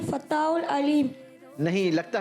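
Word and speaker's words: الفتاح: अल क़हार, वहाबुर रज़ाकुल फत्ताहुल। माशाअल्लाह, तीनों नाम दुरुस्त सुनाए हैं। थोड़ा सा प्रोनाउंसिएशन दुरुस्त करेंगे। अल क़हारू, अल वहाबू, अल रज़ाकू, अल फत्ताहू।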